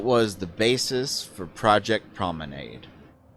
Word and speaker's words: Promenade: the basis for project Promenade which I know is also sometimes pronounced prominade uh and the results